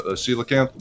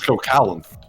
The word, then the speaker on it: coelacanth: handle, so like the coelacanth, which fuck, even if a kid can't even imagine. I mean, it's not phonetically spelled at all, so that's kind of forgiven. That was cocalanth in my head.